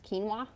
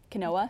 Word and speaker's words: quinoa: heard it or because it's such a different pronunciation than it looks you never associate the